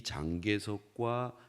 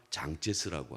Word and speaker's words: 장제스: 우리가 아는 것처럼 이 중국의 역사도 보면 나중에 이제 현대화가 되는 과정에서 이 장개석하고 모택동하고 이 두 사람이 한국식 발음입니다만은 이 장개석과 장제스라고 하죠.